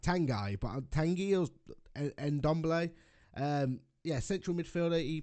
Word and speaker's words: Tanguy: His name's it's spelt like Tanguy, but Tanguy or Ndombele.